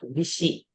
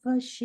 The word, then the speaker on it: वशी: Aradhita vashi and not vishi. Aradhita vashi.